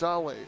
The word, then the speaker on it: Sahle: So it'll be Claymore facing off here against Sahle. S-A-H-L-E is how you say it, but it doesn't look that way.